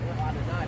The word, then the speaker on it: Adonai: Adonai, that's how you say it in Hebrew.